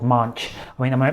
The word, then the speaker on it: Maanch: you've set up a global impact platform called Maanch. I mean, am I pronouncing that right first of all? Yes, Maanch platform in Hindi.